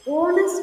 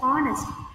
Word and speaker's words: honest: third question visha is honest girl here you should not read it as honest H is silent so past sound should